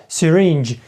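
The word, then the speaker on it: syringe: речення She has a serenger і Зверніть увагу що siren ту в нас наголос на ну на другий склад так щиге за сірийнджі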